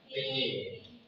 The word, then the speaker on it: fiqh: Nah, kalau kaidah penulisannya adalah FIQH, dibacanya fikih.